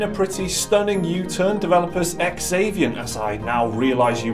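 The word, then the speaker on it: Xaviant: original bill in a pretty stunning u-turn developers ex avian as I now realize you pronounce it have already pulled the plug I'm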